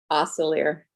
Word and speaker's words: Osselaer: Osselaer. Osselaer. Y'all know that I struggle with pronunciation.